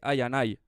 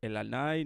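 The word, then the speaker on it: iAnai: Y por cierto que se dice Ayanay, que no se dice el Anay, ni Ianay, ni esas movidas, es Ayanay. Como cuando te jode un colega y le dices Ayanay, pues igual.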